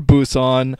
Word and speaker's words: Busan: yell at me for calling uh the actual City in Korea uh Pon when it's actually Busan but uh it's spelled with a p so usually when I see the letter P I make a p sound but it looks like